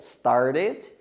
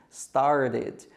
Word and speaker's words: started: pronúncia americanizada, que é started, started, e esse T ele vai ter um som meio que de R, né, aquele T ali do meio, started. Ou você pode pronunciar started também.